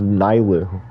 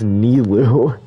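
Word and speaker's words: Nilou: Subaru character's name's wrong I thought it was nylu or nilo it's nilu I thought that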